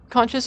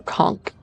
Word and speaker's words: conch: Conches are sea snails that are recognized by their large triangular shells. Kunch could be pronounced like conch or conchk.